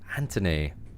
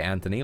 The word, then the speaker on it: Anthony: See, my boss is also from the UK, and I noticed she don't pronounce the T in Anthony. Anthony. Is this a common thing? That this is how I'd say Anthony, like this.